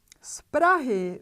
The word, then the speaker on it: z Prahy: Z Prahy means from Prague. We have two consonants together. We look at the last one. B is voiceless. Therefore, Z has to be pronounced as its voiceless pair S. We pronounce z Prahy, z Prahy.